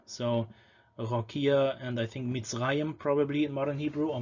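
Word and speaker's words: מצרים: There could also be a schwa between them, but for example, directly after sadi, you would get misrayim.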